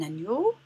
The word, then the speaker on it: agneau: Ni, ça s'écrit avec la lettre G et la lettre N. Donc ici, nous avons très bien, un agneau. Un agneau, on entend le son ni, donc je coche.